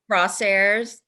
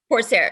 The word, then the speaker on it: Corsair: There were some new stocks in there that I hadn't heard of before, like is it Crosshairs? Or Corsair? Corsair.